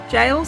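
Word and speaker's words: gaol: is the trial bay jail jail spelt g-a-o-l i had no idea you could spell it like that anyway in the era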